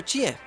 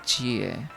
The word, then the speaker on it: Chie: Así se pronuncia, Chie. Lo estaba haciendo nada más porque, pues... no lo sé, la verdad. Simplemente porque lo estaba leyendo tal cual como está escrito.